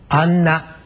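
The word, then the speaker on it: アンナ: 안나. 네. 이것을 발음하실 때는요.이 입술이 서로 만나면은 안 됩니다. 안나 해서 앤음으로 확실하게 들리겠죠.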